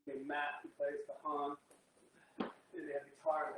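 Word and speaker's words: cajón: I used to call them cajons until Matt told me that's not the proper pronunciation, is cajon. Okay, because it's C-A-J-O-N.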